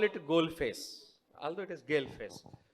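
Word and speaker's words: Galle Face: Then someone said, no sir, it is pronounced as Goal Face. All those are spellings are Gale Face.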